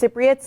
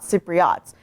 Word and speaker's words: Cypriots: So one of the things that I learned while helping make this video was that it's pronounced Cypriots, not Cypriots.